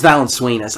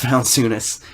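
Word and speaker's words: Valančiūnas: people pick Steve Adams sure my pick Jonas values I love Jonas valunas I said it wrong before I said it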